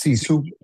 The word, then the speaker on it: Sisu: Am I pronouncing that correct amigo or what? Yes. Cisu.